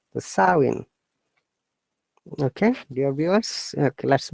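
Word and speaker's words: Samhain: a gallic what pronounced saoin look i i say according to the english pronunciation but in gaelic it is pronounced the sowing m is you know silent the sowing okay dear viewers okay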